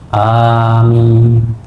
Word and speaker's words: amin: Kita langsung ucapkan waladdallin, amin. Perhatikan Pak bacaan amin. Amin, ya. Cara membacanya adalah A itu 2 ketuk, min itu bisa sampai 6 ketuk.